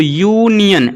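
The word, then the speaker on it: union: एन यूज होना चाहिए, बट यहाँ पे इसका आप प्रोनाउंसिएशन देखिए तो यूनियन ऐसे लिखोगे, यूनियन, तो इसका पहला जो उच्चारण हो रहा है यू से हो रहा है।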